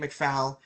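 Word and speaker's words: McFaul: Number one, your last name is spelled F-A-U-L. If you had, if you were going to make Sunday sauce, S-A-U, sauce, fall, sauce, same thing.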